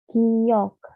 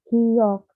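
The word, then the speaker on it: 기역: Yang pertama itu kita ada giok, giok, biasa dibacanya G, G, namanya giok. Lalu ada nian, nian, ini tuh N.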